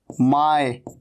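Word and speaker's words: my: माय। इसे माई नहीं कहना, माय, ऐसे नहीं कहना इसको, माई, माई नहीं, माय।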